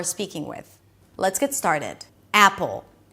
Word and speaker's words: Apple: We begin with the A as in cat. Drop your jaw, pull your lips to the sides, and push your tongue forward so it doesn't sound like apple, but a.